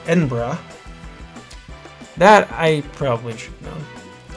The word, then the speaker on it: Edinburgh: Edinburgh is pronounced Edinburgh.